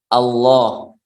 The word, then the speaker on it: Allah: Artinya membacanya yang benar adalah Allah. Allah. Yaitu Allah. Bukan O tapi A.